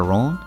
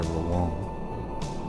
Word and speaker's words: Rouen: You want to go to Rouen? Sure thing. Actually, I think it's closer to Rouen. There are two syllables in there.